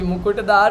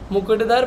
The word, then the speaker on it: मुकुटधर: छोटा उ कु ट धर धर है दार नहीं धर मुकुटधर पांडे जी है प्रस्तुत